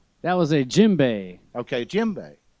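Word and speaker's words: djembe: was a jimbei okay jimbei the d is silent tell me about that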